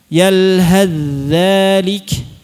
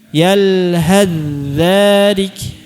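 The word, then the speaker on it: يلهث ذلك: Jadi kalau waqaf tetap dibaca tsa-nya yalhas tapi kalau washal yalhadzalik. Ya, bareng tuh 1 2 3. Yalhadzalik. Tsa-nya hilang. Kemudian yang kedua dzal bertemu dho.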